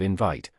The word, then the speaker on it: invite: For instance, we properly say that a word is mispronounced when it is accented in vit instead of invite.